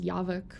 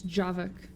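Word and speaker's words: Javik: wonder what Java C I keep trying to pronounce his name as Yak but it's not it's javak oh you're not talking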